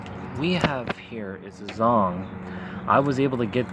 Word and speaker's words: Zeong: the zong or the zeong either the zong or a zeong depending on how you pronounce it i believe correctly it is zong from from what the dub version of the episode for the original gun